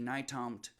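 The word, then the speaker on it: Nytomt: he said well it's it's like new york to montana it's n-y-t-o-m-t naitamt and as soon as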